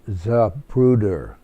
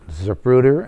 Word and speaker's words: Zapruder: She said, it was pronounced to me, but I don't know how you spell it. And he said, it's Abraham, and the last name is Zapruder.